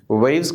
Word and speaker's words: waves: Waves का W you have to pronounce with the rounded lip.